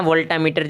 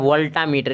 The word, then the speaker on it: वोल्टमीटर: है ना कि शुक्राना वोल्टामीटर जी मैं खूब चाहे यहां पर वोल्टमीटर होता है ऐसे इसका उच्चारण में यह होता वोल्टमीटर होगा वर्ल्ड मीटर इसलिए गलत हो जाएगा ना अगला क्वेश्चन